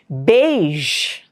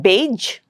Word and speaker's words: beige: measure beige. It's not beige, it's beige. There's a ja sound there.